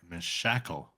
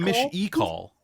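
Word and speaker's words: Mishakal: But then someone is saying Mish-e-call. It's, to me, sight reading that spelling. Mish-I-call. Yeah. And then Mish-e-call. Yeah. Well, anyway. We pronounce it the Elven way here, and it's Mishikal.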